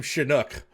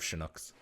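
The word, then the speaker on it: Shan'auc: a puppy lock Watcher the cast kept pronouncing her name shinook once one actor did it they all started doing it that's fun brilliant I love shinuk God these two have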